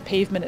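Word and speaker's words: Payvment: a great one or pav vment uh pavement it's pronounced but um the point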